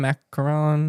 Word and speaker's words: macaron: Macaron. Macaron. Macaron. Macaron. Or macaron. It doesn't matter when you get in there. So it has two is macaroon. That's the coconut one.